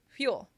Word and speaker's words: fuel: But that's not how I would say it. I would say fuel. I barely move my mouth, but I can do it inside my mouth.